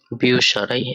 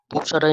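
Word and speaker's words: Bücherei: তো উ umlaut দিয়ে বিউসারাই, যার অর্থ লাইব্রেরি। আমরা এটার যদি উচ্চারণ করি বে, উ umlaut সে, হা, এ, এর, এ, ই, বিউসারাই। এখানে উ umlaut এর জন্য উপসারাই না হয়ে বিউ সারাই, যেহেতু umlaut এর উচ্চারণ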